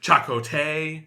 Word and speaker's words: Chakotay: his whole face excuse me it's chot yeah chakote thank you uh they they they say his